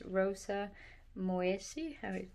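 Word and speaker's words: Rosa moyesii: So today's video I'm going to try and focus on the second flower, this Rosa Moesi, that's how you pronounce it.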